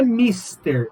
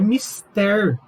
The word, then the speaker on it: mister: Outras palavras, não é mister, é mister, que significa imprescindível. Você pode usar isso na sua proposta de intervenção do Enem. É mister que o governo federal faça isto.